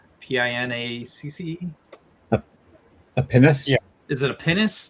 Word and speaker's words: pinnace: He says the lab ship should have I think it's pronounced Panache, Pinacce. A pinnace?